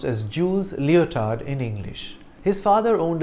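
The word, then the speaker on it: Jules Léotard: inventing the flying trapeze act his name is pronounced as jules leotard in english his father owned a gymnasium and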